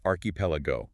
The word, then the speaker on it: archipelago: This is a Greek derived word where the chi makes a k sound. It's pronounced archipelago, stressing the third syllable.